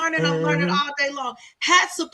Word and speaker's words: Hatshepsut: Hatshepsut is how you pronounce her name cuz I'm familiar with the name and I'm familiar with the crazy way to me it's the crazy way it's spelled because you know, right cuz we don't pronounce words like that and so now I know how to say it.